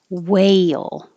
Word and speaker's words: whale: the little symbol there whale this vowel is a because your tongue rises way well the tongue is